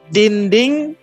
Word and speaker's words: dinding: So dinding is dinding. Yeah, ding din, like D-E-N, right? D-E-N is like din, and ding. Then the second syllable ding.